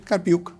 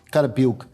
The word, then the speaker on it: Carpi: garcé y carpi se pronuncia así carpi carpi son los coordinadores Son